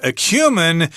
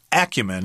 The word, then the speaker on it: acumen: the dictionary to say that acumen is actually an acceptable pronunciation of this word although Stephanie myself prefer acumen yeah I've never heard